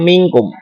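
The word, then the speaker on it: منكم: Ada lagi di kata minkum, ini adalah ikhfa hakiki. Karena ada nun mati bertemu dengan huruf qaf. Huruf kaf. Cara membacanya samar-samar berbentuk huruf kaf. Minkum.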